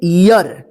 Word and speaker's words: ear: देखिए यहां पे ई ए आर, देखिए यहां पे इसको पढ़ेंगे ईयर। देखिए ईयर, ईयर आया ना, ईयर, ईयर उच्चारण हो रहा है ना, यहां पे ईर नहीं हुआ, ईयर।